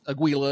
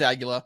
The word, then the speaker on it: Aguila: States is agila and Aguila and all this other stuff it's agila Spanish for Eagle um and they wow